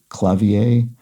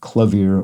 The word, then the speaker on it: clavier: And I think it would be pronounced basically clavier in French, but that wouldn't have been box context, so wasn't correct about that. And I think in English generally we would use something more like the German pronunciation.